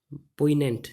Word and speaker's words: poignant: पोइनेंट जी इसमें साइलेंट है।